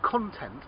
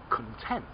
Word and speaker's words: content: like to see the content of this book okay content the thing that is inside the thing that it contains but again today i am very content happy content okay so i'm content but